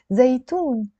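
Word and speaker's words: زيتون: I'm gonna write the word zaitoon.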